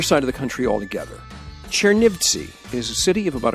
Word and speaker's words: Chernivtsi: she ate so Frances familiar you went to Chernivtsi last summer at that pronunciation right right it's a place that has